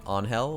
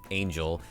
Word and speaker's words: Angel: series, a fan favorite, Angel. I believe that's how you pronounce it, not Angel.